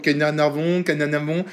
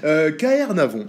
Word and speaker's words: Caernarvon: Avant je disais toujours Kanya Navon, maintenant je le prononce, je pense le prononcer bien, voilà, bon bah la prononciation était dire. KR Navon, voilà, absolument, ouais, magnifique.